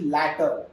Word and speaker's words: latter: So the pronunciation, you must understand the difference in pronunciation. This is later, this is latter, later, latter.